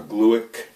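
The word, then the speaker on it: Glueck: couple married couple from Harvard name is uh glueick and that is spelled g-l-u-e-c-k and they just long-term longitudinal study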